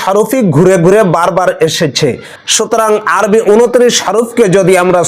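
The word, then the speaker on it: ث: করে উচ্চারণ করতে হবে সা সাটা অনেকে এভাবে উচ্চারণ করে সা বললে ভুল হবে সা বললে সিনের মত উচ্চারণ হয়ে গেল নরম করে উচ্চারণ করতে হবে সা বা তা সাটে হরফ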